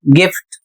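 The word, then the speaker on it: gift: जी आई एफ टी गिफ्ट।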